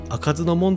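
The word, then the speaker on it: 不明門: 不明門と書いて開かずの門と読むんですが、この門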